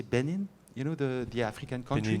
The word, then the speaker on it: Benin: And after that, the guy is so sure that he wants to go to, how do you say, Benin? You know, the African country? Benin, yeah.